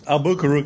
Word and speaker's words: Albuquerque: that so Ben Ben is visiting us from albaro New Mexico I believe that's the correct pronunciation albaro is correct it's thank you it's actually sort